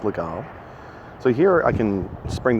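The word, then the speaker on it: Légal: as the GAO's mate spell le gee al like legal but it's pronounced legal so here I can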